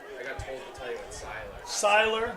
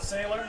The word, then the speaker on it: Siler: Siler, not Sailor? Yeah. All right, Siler.